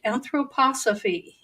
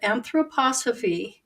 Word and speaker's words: anthroposophy: that you look up a word that is pronounced anthroposophy look up that word anthroposophy and look into Rudolph Steiner that would be